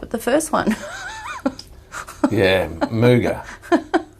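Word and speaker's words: Muga: the first one yeah mooga it's spelled m-u-g-a um it was pretty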